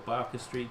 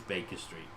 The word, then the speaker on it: Baker Street: 221 Baker Street, or Barker Street, depending on how you want to pronounce that. If you want to pronounce it correctly or wrongly, it is Baker Street. Barker is Barker.